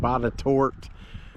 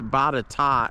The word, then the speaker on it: Botetourt: a video the other day and somebody said Botetourt. It kind of looks like it would be pronounced that way, but it's actually, if you're around here in Virginia, it's Botetourt, and if you say Botetourt, people are going to look at you funny.